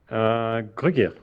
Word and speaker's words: Gruguir: Is that the correct pronunciation? Gruguir? Gruguir.